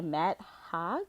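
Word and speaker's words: Matt Haig: the midnight library by matt hogg is how you say his name hey hey i think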